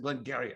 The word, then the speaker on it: Glengarry: they actually say they they pronounce it glengarry as i remember glengarry glengarry glengarry like glenn gary glenn ross i've been doing